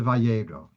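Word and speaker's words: וירא: Like in the word Vayera, the Aleph, you don't hear the Aleph sound.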